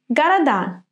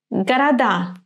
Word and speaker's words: города: In the word города, D remains D because it is followed by another sound, and this sound is vowel.